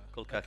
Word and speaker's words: Col'Cacchio: Col'Cacchio.